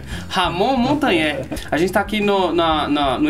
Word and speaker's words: Montagner: Como é que pronuncia? Montagné. Ramon Montagné.